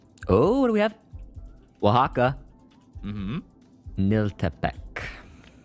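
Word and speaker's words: Oaxaca: That's got to be one of the I mean, outside of everything that is French, it's got to be one of the most inobvious ways to pronounce a place based on how it's spelled.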